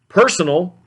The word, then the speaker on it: personal: third syllable, and then personal has the accent on the first syllable.